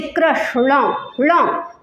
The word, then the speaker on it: कृष्ण: गहरा स्थान वहां पर अण आजकल ये लुप्त हो गया है अण का जो उच्चारण होता है ये लुप्त हो गया है कृष्ण बोलते हैं न नहीं है उसमें कृष्ण भगवान में न नहीं है कृष्ण है वो कृष्ण हरे कृष्ण हरे